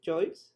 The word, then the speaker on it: Joyce: ¿Lo he pronunciado bien, Joyce? Sí, sí, está bien. Es Joyce.